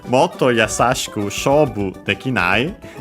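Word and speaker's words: もっと: Motto, as we've seen, suspiciously with that to at the end, could be originally actually an onomatopoeia. Nowadays, simply considering an adverb. Accent on the first more.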